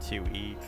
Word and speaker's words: Tui: a phase scent cinnamon Tui it's pronounced to e is a self-proclaimed trash